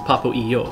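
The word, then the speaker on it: Papo & Yo: Today I am Re says it tilts me slightly when people pronounce the ampersand in Papo and Yo as and instead of E, because it's Papo E Yo, right?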